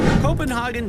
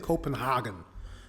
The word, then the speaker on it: Copenhagen: But he's saying Copenhagen, like a German. But it's Copenhagen.